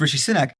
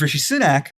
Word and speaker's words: Rishi Sunak: drinks yeah no I'm looking at it it's Richie sinek but her versus Richie sunac and Richie sunac who had he got he